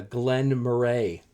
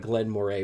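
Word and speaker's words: Glen Moray: were here with me it's an eight-year-old uh glenn murray glenn murray looks like glenn moray but it's pronounced glenn murray anyways drinking near the winter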